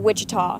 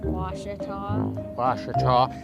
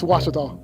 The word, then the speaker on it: Ouachita: Back in Texas, everybody pronounces it Wichita, but really, it's Ouachita. Ouachita. How would you pronounce it? Ouachita. It's Ouachita Baptist University. Get it right. It's Ouachita, people. It's Ouachita.